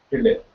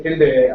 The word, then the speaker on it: tilde: It is denoted as tilde. It is spelled as PILDE, the Greek letter. So when I say tilde, I mean this character,